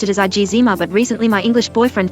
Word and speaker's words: eczema: always pronounced it as AA but recently my English boyfriend told me that the only correct pronunciation is KSM the second e is silent and he quite adamant